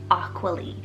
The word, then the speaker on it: Aqualee: water we have the name aqualee spell a-q-u-a-l-e-e aqualy like how cool is that one guys it's